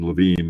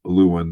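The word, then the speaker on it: Lewin: war that's um so his name um is often pronounced in the the Germans fashioned LaVine instead of Luan there but his force field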